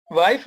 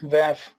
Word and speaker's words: WAF: वाइफ नहीं, spelling check कर लो। ये वाइफ नहीं है, वैफ। कुछ लोग इसे वाफ भी बोलते हैं।